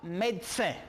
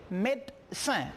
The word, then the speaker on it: médecin: On a maintenant, pour le troisième, médecin. Puede ver médecin con una E. Pueden escuchar médecin o on peut voir médecin. Cuando la persona lo dice, sale como si fuera una T, médecin, médecin.